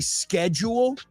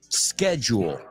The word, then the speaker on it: schedule: couple things your schedule remember the British they don't say schedule they say sched schedule schedule okay the British schedule yeah we don't agree